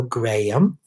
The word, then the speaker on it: Graham: That's actually the way you pronounce my name. Graham. Hello, Graham.